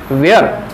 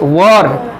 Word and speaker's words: work: very important thing that the pronunciation of this word is not where it's work work छोट्या छोट्या गोष्टी आपल्याला